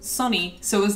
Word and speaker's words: Sony: You know, like, Sony's mascot, original mascot, was actually pronounced Sonny.